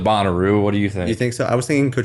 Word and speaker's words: Bonnaroo: bonnaroo music festival okay oh is it bonnaroo no boner oh i was like i was like you know this just pronouncing it i was incorrectly pronouncing it i'm going to go with bonnaroo what do you think